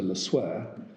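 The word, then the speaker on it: Le Sueur: Treasury introducing the legislation, I'm told it's pronounced Senator LeSueur, specifically said that the purpose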